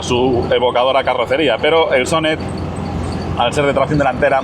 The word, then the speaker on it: Sonett: consiguió buenos resultados con el sonet o sonet como se debe pronunciar en competición eso Unido